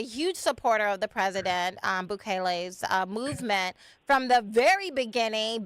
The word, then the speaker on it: Bukele: Yes, and you have been a huge supporter of President Bukele. Did I say that right? Correct. Yes, just so you know, you pronounced that perfectly as well.